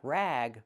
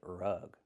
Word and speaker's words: rug: Remember pronunciation, use a short uh sound like cup and up. R- rug. Not rag, but rug.